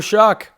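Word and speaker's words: Shough: Tyler Shock, welcome to I mean it's his last name is spelled S H O U G H. Welcome to the show, Shock.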